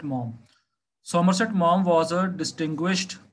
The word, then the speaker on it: Maugham: And Somerset Maugham, this is not Maugham, this is Maugham, G-H, you don't have to pronounce G-H, it is Somerset Maugham.